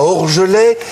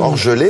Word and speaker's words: Orgelet: Il est né dans le Jura, à Orgelet. Il est le Orgelet.